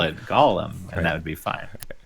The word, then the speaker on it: Golem: The game is called, pronounce it Golem. Because a golem is a real thing, right? Which the things in the game are golems, so it's definitely golem, yeah, right.